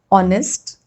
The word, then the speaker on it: honest: Hour, honest, honor, air. Okay, so there is H, but it is not pronounced.